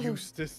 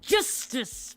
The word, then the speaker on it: Justice: Apollo. Eustace. Eustace. but not our Eustace. Eustace. Nope, not that Eustace. That's justice.